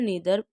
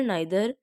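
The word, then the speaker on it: neither: यानी each, every, आइदर, नाइदर। देखिए इनकी दो प्रोनाउंसिएशन हम कर सकते हैं, आइदर नाइदर भी बोल सकते हैं और ईदर नीदर भी बोल सकते हैं। No problem is देयर।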